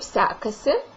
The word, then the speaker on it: sekasi: Kaip. And the second one sekasi. So listen. Kaip se kasi. Kaip sekasi. You can also say it without the sound at the end or the word sekasi. So it would sound like this. Kaip sekas. Kaip sekas.